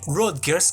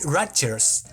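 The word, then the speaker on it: Rodgers: corrección Me encantó night Brokers que era como yo pronunciaba en todos los vídeos el apellido del productor es nil ratches y de hecho es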